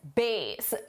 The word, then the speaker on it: bass: Now, I always forget if the musical context is bass or bass. It's bass. Bass.